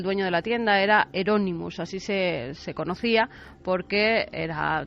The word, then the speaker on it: Euronymous: Y Euronymous como el Bosco.